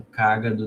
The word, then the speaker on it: cágado: Sábado com cágado não rima. Por quê? Porque qual a sílaba tônica de cágado?